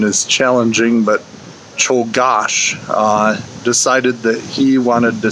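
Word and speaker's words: Czolgosz: an anarchist a guy named leon and the pronunciation is challenging but cho gosh decided that he wanted to see anarchy and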